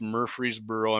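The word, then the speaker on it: Murfreesboro: But uh so they're going to be constructing 170 acre greenfield site in the company's Murreey'sboro. I'm not pronouncing it wrong. It's Murreey'sboro.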